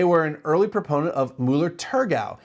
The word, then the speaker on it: Müller-Thurgau: They were an early proponent of Mueller Turgau and that is the proper pronunciation for that grape.